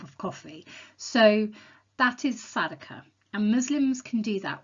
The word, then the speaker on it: Sadaqah: giving Zakah, Muslims can also give something called Sadaqah, and you spell that S for sugar, A-D-A-Q-A-H, Sadaqah.